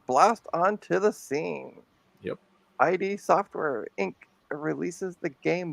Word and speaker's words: id: ID Software Inc.